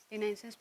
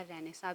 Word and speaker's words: Renaissance: Renaissance period को जो है बेसिकली दो तरह से प्रोनाउंस किया जाता है. इसे Renaissance या रेनेसा भी कहा जाता है.